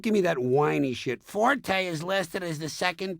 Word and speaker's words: forte: The Italian word forte, F-O-R-T-E, used in music notation, is pronounced forte, and it instructs the musician to play loud.